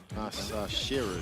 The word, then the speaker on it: Masahiro: Masahiro, sorry, that's how you say it.